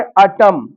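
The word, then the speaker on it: autumn: जैसे अटम। अब यहां एन तो दिया है लास्ट में लेकिन इसका उच्चारण नहीं करेंगे।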